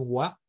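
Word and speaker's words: 和: Wa que es un un carácter chino que se pronuncia en China pero en Japón ua pues tiene muchas ideas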